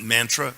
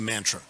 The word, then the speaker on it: mantra: become anglicized karma mantra they of course they pronounce it mantra which is terrible and and those people in England they also say mantra that's terrible our devotees state mantra yeah yeah I go